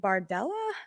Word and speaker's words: Bardella: 27 year old uh his name is Jordan bardella I hope I'm pronouncing that right and is that right Cindy